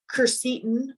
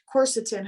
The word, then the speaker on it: quercetin: ion of four um carceton or um quercetin however it's pronounced both ways but um is also